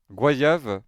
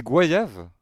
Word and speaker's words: goyave: Le Mogoyav deux prononciations dans les départements français d'Amérique en Haïti. Le mot est prononcé gua guayav. Hm hm. Se rapproch du mot araw gba tandis que dans le reste de la francophonie la prononciation est goyave.